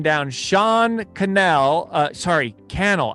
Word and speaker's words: Cannell: sean cannell uh sorry kennel i keep saying it wrong kennel like youtube channel oh that is why